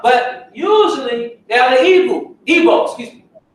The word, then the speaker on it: Igbo: Usually you see they have the Yoruba as well, but usually they are the Igbo, excuse me. It's spelled in two ways, I-B-O or I-G-B-O, pronounced Igbo, and many say that Igbo means Hebrew.